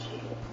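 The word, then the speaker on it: Guy: Alice Key is pronounced Key.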